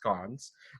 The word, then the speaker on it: scones: with lots of scones yes its cons and that's how she pronounced them so I saw it